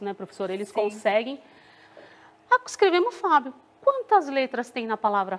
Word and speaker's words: Fábio: Que aí, pronunciando tudo junto, fica Fábio. E o acento, né? Porque a gente fala bem mais forte o Fá.